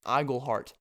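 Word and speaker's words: Iglehart: name correctly even though announcers have been pronouncing my last name wrong this whole time it's iggleheart okay if you're listening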